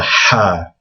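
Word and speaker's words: ح: The next letter is the first one on this list that's really hard to pronounce.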